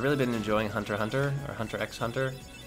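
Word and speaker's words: Hunter × Hunter: been enjoying hunter Hunter hunter x hunter apparently the X is silent news to me I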